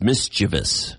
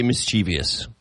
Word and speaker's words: mischievous: supposed to be mischievous there's no there's no I after the V it's mischievous that's interesting but I always say mischievous I just assumed it